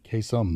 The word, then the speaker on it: Casey Kasem: I think he said It's Casey Kasem. Kasem. Kasem. Oh, who cares?